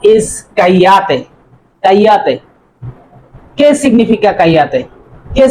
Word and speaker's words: cállate: Because this is not double L. In Spanish, this letter name is ella. Ella. Or ella. That means it is cállate. It will be pronounced like ella.